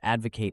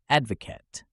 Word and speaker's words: advocate: Advocate a balanced diet notice how the stress falls on the first syllable Ed now let's look at the noun form Advocate the difference is in the last syllable K softer instead of Kate practice with this sentence